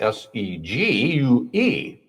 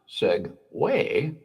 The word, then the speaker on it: segue: Like the word segue, spelled s e g u e. First time I saw it in print, I thought segue. Yeah. Or segue. Segue, but with a hard G. It's actually pronounced Segway, like the two wheel scooter that uh was actually really named after that.